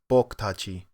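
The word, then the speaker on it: 僕たち: The U on boku is also dropped a lot, so it sounds more like boku tachi.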